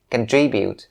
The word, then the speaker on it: contribute: primary stress and so the primary stress has to be on the second syllable it may sound a little weird when you start practicing this word for its pronunciation but make sure that you stress the second one so contribute contribute not